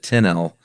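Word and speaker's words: Tinnell: a movie Crusher named Joseph uh I'm gonna pronounce it 10l t-i-n-n-e-l-l and he is the content and programming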